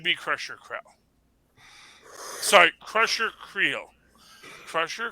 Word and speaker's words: Creel: gets a slightly a Wade pass, it's Crusher Krell. Like, if anyone deserves to be on the Thunderbolts, it should be Crusher Krell. Sorry, Crusher Creel. Crusher Creel.